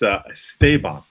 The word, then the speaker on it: Esteban: to get this wrong, but it's Esteban. But that's okay. Esteban. That's what I've been saying. Esteban. Esteban. Esteban. Esteban. So the accent is on, or the accentuation is on the second syllable, but it's okay because